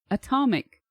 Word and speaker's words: atom: correctly we say Atomic we actually pronounce the T atomic why what is so wrong with our brains how do you you know what I mean Atomic atom we should be pronouncing this a atom but no we pronounce it Adam and then this one